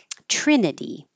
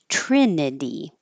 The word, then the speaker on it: Trinity: eternity eternity eternity Trinity this vowel is I like it so the tongue is always going to be a a little bit lower Trin and that's the same vowel in the next syllable Trinity the T changes to a d Trinity internal internal moment and